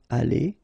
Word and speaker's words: allées: So you'll put this s, you don't pronounce it, but still you need to put it. Okay? Elles seront allées.